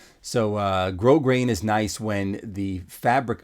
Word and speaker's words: grosgrain: um if you know what grosgrain is but that's spelled g-r-o-s-g-r-a-i-n grow grain so uh grow grain is nice when the fabric of The Tuxedo